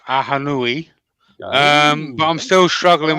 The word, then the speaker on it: Ahonui: pretty confident now that I know how to pronounce aanu um but I'm still struggling with something uh